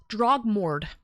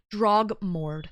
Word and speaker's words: Drogmorte: Pronunciation of my name is Drag. Drog. Drogmorte. Drog Morde and I think you're from the States.